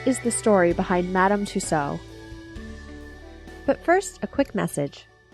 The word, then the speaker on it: Tussaud: those thanks for listening Madam tuso or Tusa as some pronounce it was born anamarie gholz